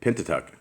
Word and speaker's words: Pentateuch: Pentateuch.